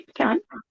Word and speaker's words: pecan: Down here is known as crappie Okay, and how do you say pecan? with a slice of pecan pie. See pecan? Oh, pecan. Yeah. Yeah, that's right.